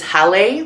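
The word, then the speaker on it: hale: The word for house is Halle. The name of the theater I worked at was the Hail Theater. And they were both spelled the same way.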